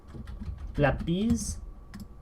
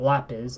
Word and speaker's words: Lápiz: Lápiz. Lápiz. Lápiz. It's, again, I'm pronouncing it like it's English, lapis. But no, it's not lapis, it's lápiz. So it's a soft S for the Z.